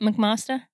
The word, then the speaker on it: McMaster: McMaster?